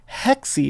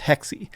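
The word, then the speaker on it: Hexe: other one here codename hexi hexy is apparently how this is pronounced so you see here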